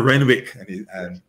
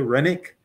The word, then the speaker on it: Renwick: WRSPA, Von Renwick, Rennick, he pronounced his own name differently than I've been pronouncing it all these years. I've always been saying Renwick, but then he mentioned his own name in some reference recently, and he said, "Did you say Rennick?"